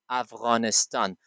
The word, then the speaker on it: افغانستان: They say Afghanistan because they don't have غین in their style of pronunciation. آنها صدای غین را در شیوه تلفظشان نداره. It's very tough for them to pronounce it. بسیار سخت است بر آنها تا تلفظش بکنه. They always say Afghanistan. آنها همیشه افغانستان میگه. But it is not appropriate for us to say Afghanistan. You should always say افغانستان.